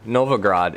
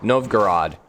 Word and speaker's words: Novgorod: Novgorod is how I'm saying it with an A. Novgorod.